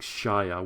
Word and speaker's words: Shaiya: gonna spell it out like SHAIYA, which is like Shia, which is basically what I said before, right? There might have been multiple reasons why they were more interested in Shia, because maybe it was